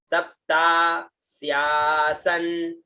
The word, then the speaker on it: सप्तास्यासन: उसके बाद में आधा स या और स और न, स्यासन, है ना, स्यासन, है ना, सप्ता स्यासन। फिर बाद में आया प री, है ना, री का उच्चारण, जय जानकी नाथ जी विवेक जी, है